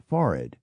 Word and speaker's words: forehead: surprised to learn that the correct or at least historic pronunciation of waste coat is weskit of victuals is vittles of forehead is forid and of comp troller